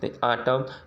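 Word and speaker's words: autumn: जब कभी दोनों साथ में आए तो ही हम यन को ही साइलेंट पढ़ेंगे, यम को। आटम, कॉलम, डैम, हाइम, ठीक है ना।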